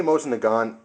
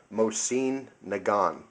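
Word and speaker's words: Mosin-Nagant: these guns uh second thing is I say MOS and theun um because that's kind of how I've heard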